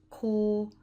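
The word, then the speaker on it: 高: a chimney on top and it's pronounced core core so this one has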